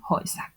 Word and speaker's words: Häuser: La A umlaut U cambia la pronunciación también y se convierte en die Häuser.